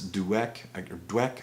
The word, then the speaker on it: Dweck: Dweck, I guess is how she pronounces her last name.